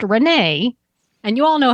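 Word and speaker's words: Renais: though the gym is spelled r-e-n-a-i-s but it's pronounced Renee and you all know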